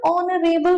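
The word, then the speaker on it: honourable: एन ऑनरेबल person H silent है।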